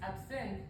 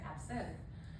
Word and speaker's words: absinthe: So here I have the exclamation mark there because absinthe is actually pronounced with the stress on the first syllable, but in this teacher is a native speaker of Turkish, and in Turkish we say absinthe with the stress on